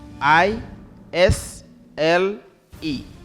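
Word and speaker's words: aisle: A i s l e. Pronounce that word.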